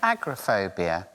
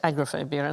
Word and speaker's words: agoraphobia: wide open spaces and I said agrophobia and they assured me it was agoraphobia they're wrong but everybody says agrophobia everyone says seven words